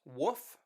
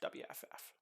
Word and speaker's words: wff: typically abbreviated wff and that's sometimes pronounced woof sometimes it's just pronounced wff every sentence letter is